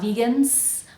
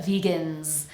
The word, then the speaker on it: vegans: no vowel at all so we say gnz vegans make sure that's a vibrating z sound not vegans but vegans let's connect that to